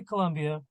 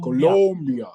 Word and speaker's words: Colombia: I was traveling to Colombia for my daughter's quinceanera and I keep saying it wrong it's Colo Colombia Colombia um so we travel to